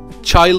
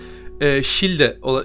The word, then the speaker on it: Childe: Shilden'in ismi bu da aynı şekilde Child falan değil hani İngilizler İngilizce yayınlar izliyorsunuz. Child falan diyorlar. Child değil. Shilde, Shilde ya da Childe şeklinde okunuyor. Hani Child değil.